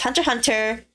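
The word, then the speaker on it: Hunter × Hunter: not but um um when japan wants to put x in their titles like that it's usually silence actually unless they unless they did otherwise so it's hunter hunter and by family even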